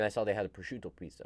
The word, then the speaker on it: prosciutto: Prosciutto. Yeah. I've never actually learned how to pronounce it until now.